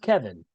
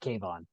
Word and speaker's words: Kevon: So it's pronounced Kevin then. It's Kevin. Okay, because we were pronouncing it Kayvon.